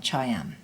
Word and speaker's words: choyam: Here's another example from Roxy Pakanam, where she does pronounce the M on choyam.